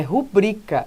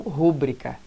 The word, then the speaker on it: rubrica: de monte tá então olha lá é rubricas e não rubricá tá cá coep aqui